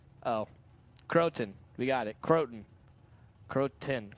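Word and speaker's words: Crawton: Facebook telling me that it's pronounced crow like the bird and ton like the measurement of weight says oh yeah like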